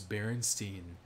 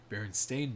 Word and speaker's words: Berenstain: berenstein bears yeah so the mandela effect is everybody remembers berenstein spelled with uh s-t-e-i-n at the end but really it's s-t-a-i-n that's the correct pronunciation spelling berenstain bears but you kind of